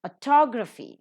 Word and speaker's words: autography: Autography, second syllable is accented.